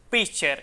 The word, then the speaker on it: pitcher: eliminemos esa T, porque aquí se dice pitcher y no pitcher, o sea, esa T del medio no se pronuncia y por tanto las